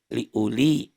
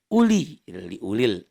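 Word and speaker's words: أُولِي: pada kata Liu Li Liu Li jangan dibaca panjang ya dibacanya pendek tidak harap tidak tidak jelas berbunyi ku tetapi dibaca Ulil Albab Bukhari Ulya ini bukan liuli bukan liuli bukan punya pendek itu Adi Quran warna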